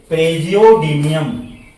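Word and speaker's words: Praseodymium: यम इसको क्या पढ़ेंगे सस का उच्चारण ज होता है बच्चों प्रेज मियम इसको पढ़ेंगे प्रेज मियम फजियो प्रे जियो डी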